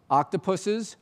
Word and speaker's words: octopuses: how do we honor the ape-like intelligence of octopuses and that's the right way to say it